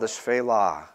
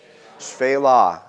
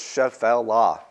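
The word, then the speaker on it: Shephelah: testament probably you guys it's called this fela can you say this fela with me fayla and it's spelled you would never guess how it was spelled by how it's said it's spelled sh e th e la h sh e ph e lah you might think it's chef l law but you have to run all those things together and just say c'est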